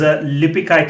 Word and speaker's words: Lipeikaitė: And is Lipikite? Is that the correct pronunciation?